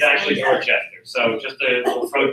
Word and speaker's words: Dorchester: It's pronounced Worcester up there, not Worcester. But if you go to Dorchester, Massachusetts, don't say Dorchester or Dorchester. It's actually Dorchester.